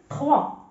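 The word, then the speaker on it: trois: بحال مثلا تي، تي كذلك مثلا تخوا يعني الرقم ثلاثة، تخوا، تخوا كذلك ستنطق خا، لماذا؟ لأن قبل الحرف تي، دونك تخوا، وهاد أو مع إي قلنا لك كتقرا وا، دونك 3 و اس في الاخر ما كيتقراش، دونك 3.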